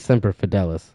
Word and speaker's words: Semper Fidelis: Is it Semper Fidelis or Semper Fidelis? Let me see. Search Brave. Oh, pronunciation. Here we go. Phonetically with audio. Semper Fidelis. Yeah, it is Semper Fidelis.